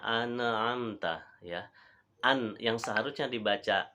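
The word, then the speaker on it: أَنْعَمْتَ: ayat ini eh Hai ada orang yang salah bacanya pada kata an'amta ya jadi bacanya ini contoh bacaan yang salah sirotol ladzina an amta ya and yang seharusnya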